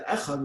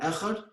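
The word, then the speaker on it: אחד: Concentration of the heart for Shema, lengthen the word echad. The lengthening is specifically on the Dalet. Don't slur the ches.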